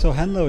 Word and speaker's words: henlo: Am I pronouncing that correctly? It's henlo, yeah.